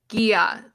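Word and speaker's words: G'iah: Gia, like the non-alcoholic spritz beverage on TikTok.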